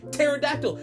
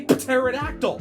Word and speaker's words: pterodactyl: p at the beginning the p is silent we don't need silent